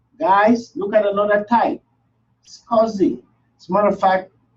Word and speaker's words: SCSI: Big servers don't use SATA hard drives, those regular, they use SCSIs.